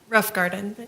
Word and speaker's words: Roffengarden: All right, and was Miss Melissa Roffengarden, is that how it's pronounced? Pronounce it for me. Rough Garden.